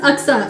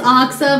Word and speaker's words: Uxa: This is Uxa. Uxa. Say it with me. Uxa. Okay. Oh my god. No one can pronounce Uxa. My name right. Yeah, a lot of people say it's Oxa, but it's Uxa, so...